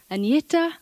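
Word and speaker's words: Agnetha: Hello, I'm Agneta. I know it's very hard for you to pronounce, but you can say Agneta or you can say.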